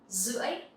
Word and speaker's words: rưỡi: In Vietnamese, you can say rưỡi, rưỡi. Here, the R sound, you will pronounce like Z sound.